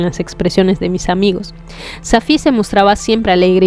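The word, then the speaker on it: Safie: Le voy a pronunciar Safi, ¿ya? Suena más árabe.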